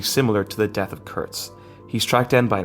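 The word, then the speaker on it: Kurtz: book and the movie are named Curts not kurs Curts so you just have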